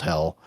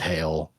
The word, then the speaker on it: Hel: Bridging that gap to Hell, H-E-L, definitely pronounced Hell, not Hail or Heel.